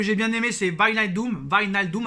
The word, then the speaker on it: Wijnaldum: Wijnaldum, apparemment, c'est comme ça qu'on prononce Wijnaldum.